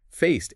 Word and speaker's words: faced: Faced ends with a T sound.